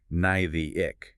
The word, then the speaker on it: gnathic: Word initial, the g is silent. You just say nigh the ick.